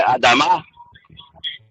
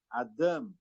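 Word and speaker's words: אדם: Adam Adamá é o radical. Só que o senhor não vai ler Adama. O senhor vai ler Adam. Adam não é Adam. É Adam. Adam.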